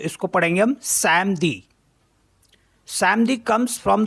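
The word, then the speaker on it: samedi: एम अ दे ई तो इसको पढ़ेंगे हम समदी समदी comes from the word सटम the Holi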